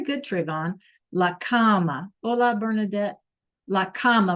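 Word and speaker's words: la cama: Tron laama Ola bernardet laama remember we said it sounded like the like a comma like a that we write with right except it's spelled c ma a okay laama what else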